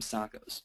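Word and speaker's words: SOCOs: We call them SACOs, which stands for Strategic Overriding Communications Objectives. Rhymes with Shaco, and hopefully has that sort of effect.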